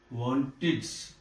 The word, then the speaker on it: wanted: Wanted. It is pronounced as wanted. Wanted. Id. This ed is pronounced as id. Earlier the same ed is pronounced as ch, ch. But now it is pronounced as id, id.